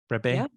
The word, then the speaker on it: Brabbée: Brabay. Uh is that I get your last name right? Brabay?